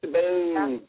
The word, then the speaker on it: Sabine: Sabine. That's because it's the German spelling pronunciation.